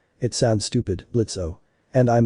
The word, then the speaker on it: Blitzo: I'm Blitzo, the O is silent, and this is my surly but incredibly effective daughter."